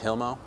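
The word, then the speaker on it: Hilmoe: H I L M O E And it's pronounced Hilmo?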